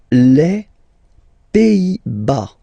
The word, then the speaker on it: Pays-Bas: Les Pays-Bas. Final S here, not pronounced. Same thing here. Pays, and then bas.